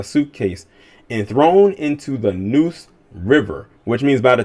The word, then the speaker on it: Neuse: upsetting story notice the name of the river noose river is pronounced noose river it's not spelled like the